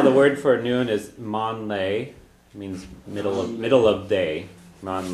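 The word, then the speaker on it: meán lae: First of all, the word for noon is mon lay, means middle of day, mon lay.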